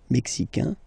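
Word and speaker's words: Mexique: the mexic and then remember this Q it's only mexic okay Brazil Brazil okay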